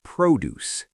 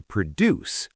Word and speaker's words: produce: the big signs hanging from the ceiling is produce. Major pronunciation warning here. Everyone stop what you are doing and listen. It looks exactly like the verb to produce like making a movie.